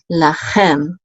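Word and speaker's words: לכם: And then we have a lamed with a kamatz, which says la, and then a chaf with a sagol, and the mem sofit says chem, lachem, and this means to you, plural, so to y'all, to y'all.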